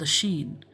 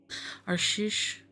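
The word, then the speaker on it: Arsheesh: a poor fisherman called Ashin, and with him there lived a boy called him Father. The boy's name was Shasta. On most days, Arshish, my bad, I said the name wrong. Arshish, went out in his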